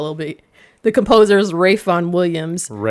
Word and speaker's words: Ralph: Nobody name nobody born in America is naming their kid Rafe. True. And it's spelled Ralph.